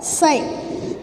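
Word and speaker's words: ψ: This dielectric susceptibility, indicating with the letter psi, it is written as this and pronounced as psi.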